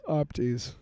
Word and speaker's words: OPOTYS: I'm going to say OPTYS. Opties. The other O is silent.